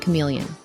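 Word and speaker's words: CM3leon: one powerful model called cm3 Leon pronounced chameleon but why is this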